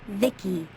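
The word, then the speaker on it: Vici: By the way, I'm V I C I pronounced Vicki.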